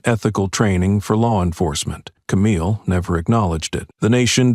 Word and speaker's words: Camille: "It's not Cammy, it's Camille," she said.